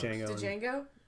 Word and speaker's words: Django: Django. Django? The D is silent, The D bitch. is silent. He literally a line from the movie. D is silent, bitch.